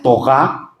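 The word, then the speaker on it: תורה: dicho, con el acento con el acento hebreo, porque la r se pronuncia como g. Es no es torá, es toga.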